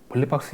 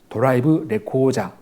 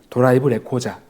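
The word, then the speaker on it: ドライブレコーダー: 일본 말이 아니고 우리말로 이렇게 대화 가능한 이제 전화 받을 수 있는데 어쨌든 이거 물어볼 때 혹시 내가 빌린 차에 블랙박스 있나요?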